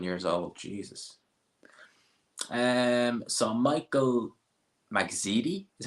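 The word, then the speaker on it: Magdziak: So Michael Magzidi is how you pronounce it versus Anthony Kakache.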